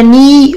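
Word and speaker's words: knee: اصبع اليد لانه اصبع القدم اسمه تو عندنا ني ركبه اي كي بعدها ان اتفقنا مش بنطق ال جج ساق وارم زراع هان يد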